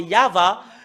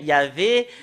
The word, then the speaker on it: YAHVAH: voyons dans le Sefer Torah des Juifs, c'est Yahva. Et ça prouve très bien que voilà la vérité juste en haut qui confirme ce terme que c'est Yahva qui est le vrai. Yahvé n'est pas dans dans l'alphabet juif ancien.